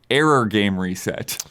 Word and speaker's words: 404 GAME RE:SET: on a podcast because it's written as 404 game reset but it's pronounced as error game reset yokotaro yep and uh